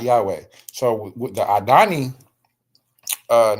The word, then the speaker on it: Yahweh: So the difference is they're pronouncing it y. This is a a yah. And then we have the vav here. There is no o. There's just a vav and a and a ha. So Yahweh y a h yah